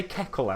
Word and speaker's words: kettle: They say keckle instead of kettle. Like it's Kekkle.